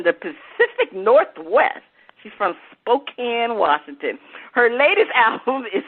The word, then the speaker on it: Spokane: i just say that what is it spokane spokane washington all right spokane they say kika morlad is a vocalist executive producer from the pacific northwest she's from spokane washington her latest album is a mixture of